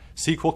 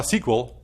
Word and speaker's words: SQL: After all, SQL compatible databases are the most commonly used and deployed databases. Now, SQL, pronounced SQL or SQL, stands for structured query language, and it's been around since the 70s.